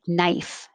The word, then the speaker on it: knife: d's so knitting knitting the k in combination is always just an in like knife and no knee and knight and eight casual this is